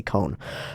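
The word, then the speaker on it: koan: an con Coen Coan I've heard all all sorts of pronunciations of it I always like to say cone um the cones of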